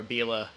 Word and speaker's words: Abele: Well, first of all, I want to say nobody should feel bad about saying Abele or Abela or anything but Abele, which is my last name.